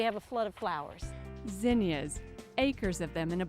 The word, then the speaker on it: zinnia: of people call them zenas they were actually named after a botanist named Zen so they correct nameing vinia and I like that because it rhymes with Virginia Virginia tells us it